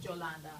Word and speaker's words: Yolanda: known as Yolanda in in case it confuses anybody because my name is pronounced jolanda that's why I got